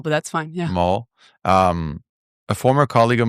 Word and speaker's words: Mohl: I am super excited to host Maul. Am I Am I saying it right? Mole, but that's fine. Yeah, Mole.